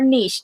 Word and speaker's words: niche: And then the last video I want to mention is this one about niche marketing, or niche, depending on if you want to say it with the correct French pronunciation.